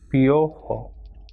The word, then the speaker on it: piojo: I and O will be pronounced as piojo.